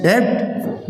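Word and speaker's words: debt: honest ए silent है डेप्ट ब silent है ऑरेंज पूरा का पूरा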